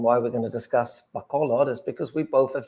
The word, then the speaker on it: Bacolod: I was wrong. People said Bacolod, and then I was corrected to Bacolod.